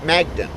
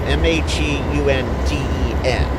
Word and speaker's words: Magunden: they'll come down here to Magden. I know I'm not pronouncing that right. It's Magundin is how it's spelled out. Magunden. So that is where we are at.